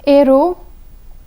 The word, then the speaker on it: héros: The letter H has been omitted from the pronunciation.